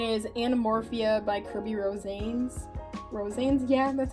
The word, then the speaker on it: Rosanes: Rosanes? Yeah, that's how you pronounce his last name.